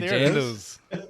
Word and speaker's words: jandals: Oi, jandals. And that's the correct pronunciation.